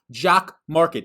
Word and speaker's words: Jock MKT: This video is sponsored by Jock Market. That's the logo that you see above. Jock MKT. It's pronounced Jock Market.